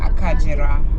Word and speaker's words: Akagera: it's written like Agera but in kinyawanda it's pronounced as akajira so you can check online they have different